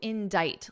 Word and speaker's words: indict: So that is the verb to indict. Listen to my pronunciation, It's quite different from the spelling, isn't it? In Dite, Dite, Dite.